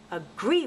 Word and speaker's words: agree: gonna sound silly so in the word agree for example there are two syllables and the stress falls on the second syllable greet same with a